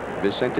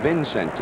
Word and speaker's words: Vicente: He was calling Vicente Romo Vincente. And Bill Crowley told us, says, hey, Sherm, that's the wrong pronunciation.